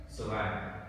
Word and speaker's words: survive: C thì chúng ta có là từ survive tơ ai hà tơ thì yếu hơn ai, vậy ai sẽ nhận trọng tâm survive. Vậy vào âm 2 survive và survive.